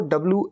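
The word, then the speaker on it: bowl: थोड़ा सा अलग है बी ओ ब्लू ल यह होता है बोल और मैं यह का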